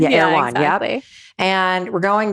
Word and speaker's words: Erewhon: Erewhon. Erewhon.